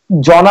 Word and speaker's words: জনা: জনা, আমার নামের উচ্চারণটা জনা হবে, অনেক ধন্যবাদ, দুঃখিত, মাফ করবেন, তখন ভুল উচ্চারণ করেছি।